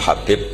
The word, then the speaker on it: Habib: yang nulis Abi Abdurrahman Habib asulami itu di harakatnya kitab itu ada yang nulis hubb Yang benar Oh giih yang benar itu bacanya habib habib itu asulami itu ikut